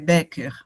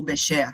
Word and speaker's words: Becher: Aí eu trago aqui para vocês, né, essas fotografias, que é de um casal alemão chamado Bernit e Hilla Becker, ou Becher, dependendo da pronúncia.